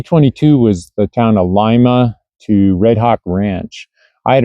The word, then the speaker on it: Lima: So this is again day 22 23 24 the town of uh actually it's supposed to be pronounced Lima.